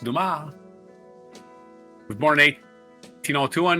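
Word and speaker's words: Dumas: Um, 1802, Alexander Duma, Duma, not dumbass as they say that one movie. French author, it's spelled dumbass, but it's pronounced Duma.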